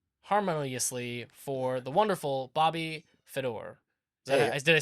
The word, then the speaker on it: Fedor: and clasp them harmoniously for the wonderful Bobby Fedor did I say it correctly you said it